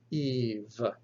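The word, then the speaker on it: ηυ: a voiceless consonant and then ita followed by xilan will be pronounced so evie like in the word evil eve or if like it in the e-e-f in beef so ita ipsilan eve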